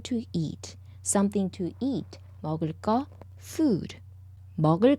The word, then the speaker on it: 먹을 거: 발음 르 and 그 when they go together, 그 becomes 끄, double 끄. Hence, 먹을 거.